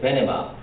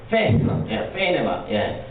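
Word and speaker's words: Venema: 제 논문은 칼빈의 모세 언약에 대한 최근의 미국 개혁신학자들의 토론을 존 페스코와 코넬리우스 베네마, 황대동 교수님 여기 미국 사람은 베네마라고 하는데 네덜란드에는 어떻게? 페이네마, 발음이 너무 정확하셔가지고 그 중심으로 정리하고 칼빈의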